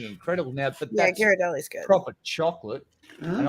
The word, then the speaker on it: Ghirardelli: I just mentioned earlier is I don't think it's Gardelli's. I'm not saying it right. Ghirardelli.